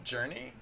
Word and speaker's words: JRNE: Fool's Duty, hey, this is Journey. It's like the new, it doesn't actually have a name, but the dev name is spelled JRNE, so I pronounce it Journey.